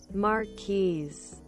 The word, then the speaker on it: Marquise: okay google to the rescue oh british british pronunciation okay french let's do it slow marquise makes a little accent on it all right